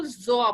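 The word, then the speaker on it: Gjøa: जैसे अब यूएसए जो प्रोनाउंसिएशन उसके हिसाब से अगर इसको देखें तो वहाँ पे ग्योआ बोला जाता है, इसको ग्योआ, ठीक है, ग्योआ। यूके के हिसाब से गजोआ, ठीक। और जो इंडिया है, इंडिया में भी हम जो प्रोनाउंसिएशन है ग्योआ, गेवा, ठीक है। और कई जगह पे इसको जोआ बोला जाता है, जोआ, ठीक है, जी साइलेंट हो जाता है, ठीक।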